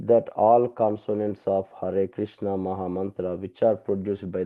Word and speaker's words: Krishna: The letter R in Krishna also a voel is uttered in the same way more clearly. The tongue produces the sound R but it is pronounced like re.